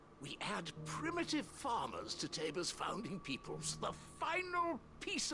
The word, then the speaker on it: Tabor: This is Oh, it is pronounced Tabor.